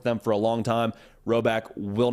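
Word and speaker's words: Rhoback: done work with them for a long time roback will not steer you astray all right so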